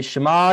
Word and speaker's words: Shema: how do we say shimab we cover eyes like this and i'm going to teach you how to say it uh properly you say shema yes and then you